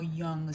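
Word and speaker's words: Jung: I love Carl Young. Yeah. The shadow work and the archetypes. Yes. Carl Carl Carl Young. Y'all check out Carl Young. spelled young spelled with a J.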